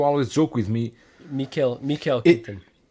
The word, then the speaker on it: Keaton: Mikael Keaton. It's Keaton, but like you don't really put the emphasis on the O.